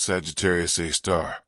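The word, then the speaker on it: Sagittarius A*: The Milky Way's central black hole, called Sagittarius Asterisk, pronounced Sagittarius A star, has a mass approximately 4 million times that of our sun, all compressed into a region smaller than Mercury's orbit.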